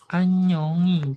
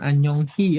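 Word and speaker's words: 안녕히: Jadi dibacanya anyongi gitu bukan anyonghi ya.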